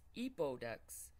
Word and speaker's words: Epodex: here on narration because i pronounce the name of the resin wrong it's eepodex and it has a 60